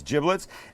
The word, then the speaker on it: giblets: This is the bag of giblets, and that's how it's pronounced. Not giblets, it's giblets, and in here would be liver, would be gizzard, would be heart.